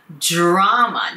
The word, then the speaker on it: drama: この場合の drama っていうのはテレビドラマのことではなくって、ごたごたってことですね。もう大きなごたごたが今オフィスの中で起きてるってことですね。で、ドラマではなくて、イントネーションが違いますね。drama, drama で、dr は ju ですね。 is being played out. この is being っていうのは何々されている最中ってことですね。 is being played out in the office. まあ、is being played out っていうのは展開しつつあるっていう直訳になりますね。まあ、今起きているでもいいですね。A big drama is being played out in the office.